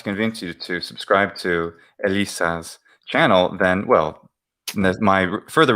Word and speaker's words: Elissa: That's the YouTube address, or you can type it's Elissa, not Alyssa. Elisa. Oh, no. Using the excuse me Latin pronunciation.